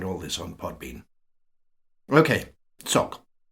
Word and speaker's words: tsok: on podbean okay sock the word is spelled in a variety of ways which you can see in the notes the full transliteration would be TSH h o gs but you may already know that unless you've studied the rather complicated rules connecting Tibetan pronunciation to spelling then it's probably better to stay with something simple like TS o k I'm imagining that you